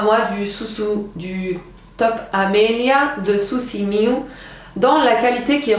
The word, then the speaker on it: Susi Miu: Alors que je vous dise pas de bêtises parce que chaque fois je le prononce mal. C'est Susi Miu. S-I.